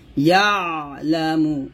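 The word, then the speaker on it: يَعْلَمُ: তারপরে ইয়ালামু, ইয়া আইন জবর ইয়া, এই যেখানে আইনের উচ্চারণ কিন্তু কমা দিয়ে বোঝানো হয়েছে, ইয়ালামু ইয়ালামু এরকম, ইয়ালামু, মার এক লিখতেন,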